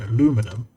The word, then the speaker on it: aluminum: And likewise, you can take the I out of the British pronunciation and with the same emphasis, it still sounds mostly the British way. Aluminum. Aluminum instead of aluminium.